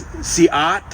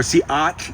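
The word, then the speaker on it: Si'ahl: It's Siat or Siat. There's a ch at the end, Siat. Again, the English speakers couldn't deal with that, so they called him Seattle.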